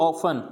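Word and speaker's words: often: फिर ऑफन, यानी यहाँ पे भी टी साइलेंट हो जाएगा, ऑफन।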